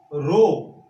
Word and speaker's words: rho: एक न्यूमेरिकल पक्का इलेक्ट्रिसिटी से R is equals to रो L upon A से आएगा। इसको हम क्या पढ़ते हैं, रो पढ़ते हैं। रो आपको मैं स्पेलिंग बोलता हूं RHO, this is what called रो।